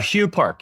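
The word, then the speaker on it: Hue Park: by Aronson and Way, but but um Hugh Hugh Park. Hugh. Yes. Hugh. Is that how you say it? Uh Hugh Park, yes.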